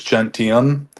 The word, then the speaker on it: gentium: Uh for example, like the consensus gentium, is that how you pronounce this?